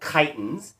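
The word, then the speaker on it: chiton: these animals are called chitin it's pronounced the same way but it is t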